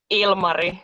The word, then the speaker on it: Ilmari: Yeah, it's Ilmari, actually. Ilmari, The stress is in the first syllable.